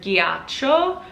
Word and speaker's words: ghiaccio: For example, the Italian word ghiaccio has a GH, and so it's a hard G.